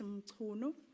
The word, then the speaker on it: Mchunu: So I just wanted to correct the pronunciation of your name. It's Mchunu.